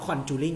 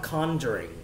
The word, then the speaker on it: conjuring: ครับแปลว่าไล่ผีฮะเนาะตรงข้ามกับคำว่าคำนี้น้องๆรู้จักกันอยู่แล้วครับคือคำว่า conjure ครับ conjure เป็น verb ครับแปลว่าปลุกผีครับนะฮะ conjuring นั่นเองนะครับเราไม่อ่านว่า conjuring นะลูกนะบ้านนอกนะครับเราจะอ่านว่า conjuring นะครับเนาะอ่ะคำต่อมาครับแปลว่ากรองครับคือคำว่า filter นะครับ filter แปลว่ากรองนั่นเองนะครับตัวต่อมาคือคำว่า stimulate นะครับ stimulate